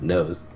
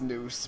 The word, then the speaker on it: noose: I pronounced it nose. I think it's noose, but I can understand pronouncing it that way. Noose is weird. Yeah, I think news is correct. I'm just saying I didn't know how to pronounce it, so I said nose.